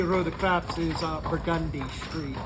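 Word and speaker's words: Burgundy Street: the craps is uh burgundi Street burgundi burgundi yeah which is how we pronounce burgundy when we're talking about the street burgund is the wine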